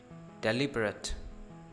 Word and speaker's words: deliberate: डिलिबरेट, डिलिबरेट, इसको डेलिबरेटली नहीं कहना, ना ही डेलिबरेट कहना है। deliberate, deliberate, deliberate.